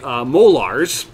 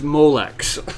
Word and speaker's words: Molex: As my little brother would say, molars, but the correct pronunciation, if he's watching, is Molex. And then these ones get plugged in by the peripherals.